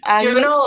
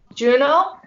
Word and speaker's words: Juneau: June. Juneau, Alaska? Huh? Juneau? Oh, I guess that's how you pronounce it.